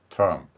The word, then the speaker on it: 트럼프: 에, 우리는 트럼프 이 발음을 한번 보도록 하겠습니다. 미국 대통령의 이름으로도 쓰이는 발음이고요. 발음 기호를 음소 그대로 옮겨보면 T는 티읕, R은 루 발음이 들어가지요.